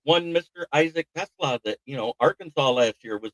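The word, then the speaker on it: TeSlaa: Yeah, Tesla is how it's pronounced.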